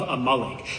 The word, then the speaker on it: Amalek: It's not Amalik. It's a malik.